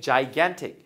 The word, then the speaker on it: gigantic: 뭐를 a gigantic 했는데 giant라는 단어 들어보셨죠? 거인. 자, 거기서 온 형용사인데 이거는 발음 조심해야 됩니다. 저기선 giant지만 여기선 gigantic입니다. gigantic.